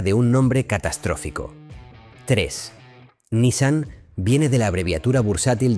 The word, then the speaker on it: Nissan: La pronunciación correcta en japonés es Nissan, más cerrada de lo habitual. Y Nissan puede traducirse como hermano mayor.